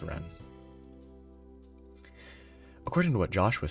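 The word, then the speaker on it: Renne: but oh, apparently R-E-N-N-E is a Middle English form of run or runner. Yeah, it seems like it's supposed to be pronounced ran.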